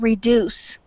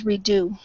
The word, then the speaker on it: reduce: For instance, we have the word reduce. It came out as redo. I So do. if you can, it needs to be reduced. Pronounce those consonants.